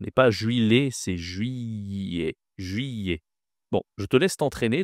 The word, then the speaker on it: juillet: Ici, en fait, ce n'est pas les tu ne prononces pas le L. Ce n'est pas juillet, c'est juillet. Juyet.